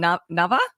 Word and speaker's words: Nava: And again, pardon my pronunciation, Nava? You got it. I think Java, but with an N at the beginning and an H at the end. Nava. Okay, Nava, tell us your tip.